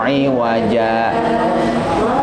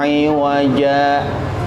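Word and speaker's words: عِوَجًا: Alhamdulillahilladzi anzala ala abdihil kitaba wa lam yaj'al lahu iwaja qayyima. Iwaja qayyima. Nah, belajarnya di situ. Iwaja qayyima. Ketika membaca iwaja tidak bernapas. Iwaja qayyima. Tapi ingat, ada ain di sininya, bacanya jangan iwaja, nggak boleh.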